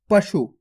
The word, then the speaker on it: पशु: आपको पशु खींच के नहीं पढ़ना, पशु।